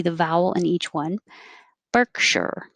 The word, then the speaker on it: Berkshire: vowel in each one berkshire two syllables stress on the first one picture avenue i should